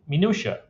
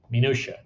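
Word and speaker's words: minutiae: from those and those we are calling minua that's how you pronounce that by the way minua so we can stract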